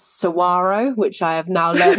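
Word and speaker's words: Saguaro: So, it's Sarro, which I have now learned how to pronounce properly, canyon, Apache, and Roosevelt.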